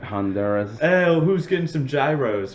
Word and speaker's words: Honduras: Look, I say Honduras. I say Honduras. Is that the correct way to say it, or am I just a prick? No, that's how you say it.